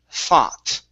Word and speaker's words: thought: Okay, so first up, we have the word thought. Okay, so the O-U-G-H right here in the middle, instead of being ow, thou, it's only an ah sound.